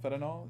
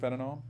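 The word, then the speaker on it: fentanyl: friend Kirk Johnson um investigators did find fanol fanol is how it's pronounced fanol um in bottles label bear and a aspirin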